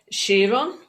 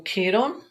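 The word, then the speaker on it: Chiron: so kind okay so this is um shiron or Kiron depends on how people want to pronounce it this is known as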